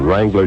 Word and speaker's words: Wrangler: Fellas, there's a silent W on Wrangler jeans, Wrangler sportsear, Wrangler jackets, every Wrangler in America. But you have to look for the Wrangler W because it's silent.